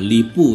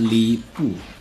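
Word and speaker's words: Lü Bu: mainkan nah ini adalah lipu ya ini adalah Warrior terkuat di dunia dnasty Warrior dan dunia The Kingdom bacanya itu adalah lipu pinginnya itu Lubu Baiklah PPSSPP berjalan dengan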